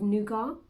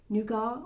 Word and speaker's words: nougat: me a bar of nougat i think you that's how you say it nuga or nougat n-o-u-g-a-t it's like a really